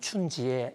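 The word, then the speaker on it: 春节: 설날이라 그러고 중국에서는 춘절 중국의 발음도 라면 춘지에 이렇게 발음이 되는데요 이것을 미국에서는 한때 차이니즈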